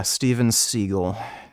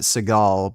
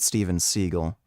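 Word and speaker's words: Steven Seagal: crime or something yeah stevenh seagull that's actually how you pronounce his name seagull he just he claimed you pronounce it Seagal because it sounds cooler but you actually pronounce it stevenh seagull thanks for the donation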